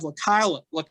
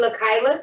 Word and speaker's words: LaKyla: Next up, we have LaKyla. Did I pronounce that correctly? LaKyla.